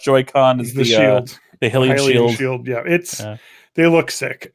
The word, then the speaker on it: Hylian: The Hylian shield. Yeah, they look sick. I pronounced it wrong. It is Hylian.